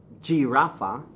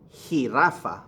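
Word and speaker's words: jirafa: lay on again now that J gives you what sound the H sound so it's not G Rafa it's he he Rafa muy bien la he Rafa not child opinions but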